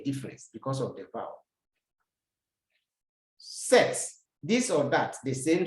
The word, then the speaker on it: cet: This set, please pay attention as I'm explaining. Good. C-E-T is pronounced set. It's not set, but set.